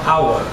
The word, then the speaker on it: hour: No caso, a palavra hour, a letra H é aspirada porque ela não é pronunciada.